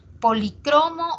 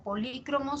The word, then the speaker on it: policromo: Policromo o polícromo son formas acentuadas, no sé, a ver, esdrújula y grave que tiene ese término. Ambas se aceptan según el DPD, ¿no? Ambas, ¿ya? Se emplea con 2 acentuaciones y ambas válidas, nos dice.